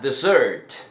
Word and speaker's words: dessert: Nótese que la pronunciación es diferente y la escritura también. La primera sería dessert. Dessert, que quiere decir postre. Dessert. La segunda sería desert, que sería desierto, como el Sahara, por ejemplo. Desert. Así que ya sabes, no solamente la escritura es diferente, sino el acento en cada una de las palabras.